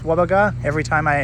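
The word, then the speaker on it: Gwabegar: station was part of the wero Wang to Wagar line I'm pretty sure it's pronounced Wagar every time I said the word guaba I was sort of I was sort of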